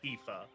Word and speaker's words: Tifa: I love your Tiffa sleeves because that's how it looks how like it's pronounced in my head, you know? Tiff A. Tiff." And dude, he just looked at me, lowered his head to where like he was like glaring at me and he was like, "It's pronounced Tifa."